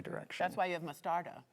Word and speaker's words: mostarda: That's why you have mostarda. Correct. Mostardo?